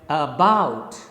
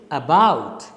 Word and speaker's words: about: then what happens that the first syllable is unstressed it is a weaker syllable and the second syllable bout is stressed it is a stronger syllable so you speak it like about you can't say about